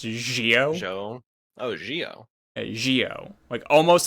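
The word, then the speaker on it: Zi-O: His name is spelled with a Zio, but it's pronounced Gio. Jo. Oh, Gio. Gio, almost like Geo. Some people actually pronounce it Geo, but it's pronounced Gio.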